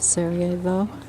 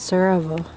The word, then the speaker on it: Sarajevo: This is where the ski slope was for the 1984 Olympics, overlooking the city of Sarajevo, or as they say it, Sarajevo. We pronounce the first syllable, they do not.